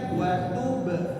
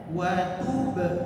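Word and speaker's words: وَتُبْ: Jangan terbacanya wa tub alaina. Apa yang salah di situ? Wa tub alaina, salah di qalqalahnya. Mana kesalahan qalqalahnya? Yaitu seperti tertahan banyak. Tub, be, enggak tertahan qalqalah, tapi memantul alami, ya.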